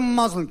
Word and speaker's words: Muslim: And the entire world is watching that going, it's Muslim, you son of a bitch. Learn how to pronounce it before you ban it, would you? Muslim is a religious belief. Muslin is a fabric.